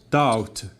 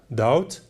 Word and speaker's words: doubt: for example another example like in doubt doubt we have B the combination of B always in the at the end of the word is a a silent letter okay so here we